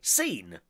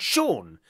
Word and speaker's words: Sean: called seen in fact some people that spell their names s EAN are called seen but you're called Shawn and yet there's no H I don't understand this is one of Earth's mysteries Shawn says good morning Chris